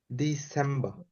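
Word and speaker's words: Dezember: আমরা রটাকে বললেও বলতে পারি, আবার না বললেও বলতে পারি, এরকম ডিসেম্বা, তাই না?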